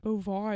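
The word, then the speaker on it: Beauvoir: does not next book I never know how to say this author's name this is Inseparable by Sone B boir boir is how I hear people saying it I always want to say B which doesn't make any sense okay so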